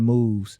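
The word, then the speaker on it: Mauves: His name is Mad Moves, but Moves is spelled like Mauve. Oh, okay. So like move, Mad Moves.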